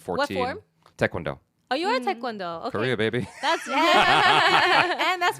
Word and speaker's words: Taekwondo: Oh, you are Taekwondo. Okay. Pretty baby. And that's why you said it right cuz you actually Yeah, most people go Taekwondo and I'm like, "You're hurting my ears with that."